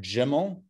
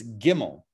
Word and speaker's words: gimmel: we're using in english the g sound is a get sound it's a hard g it's not jimmy right it's not even jimmy kimmel it's gimmel straight up gimmel right